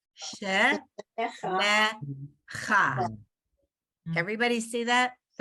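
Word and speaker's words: שְׁמֶךָ: So you have to pronounce the vowel.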